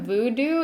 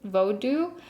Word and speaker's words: Vodou: because it's already bothering me so the term voodoo is a western term that is actually offensive because the religion that like what we know is voodoo what it comes from is actually pronounced vo vodou um so starting now i'm actually just going